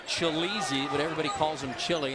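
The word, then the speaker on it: Tshilidzi: his name TSK chai Li Dzi and it's pronounced chil easy but everybody calls him chilly and needed mine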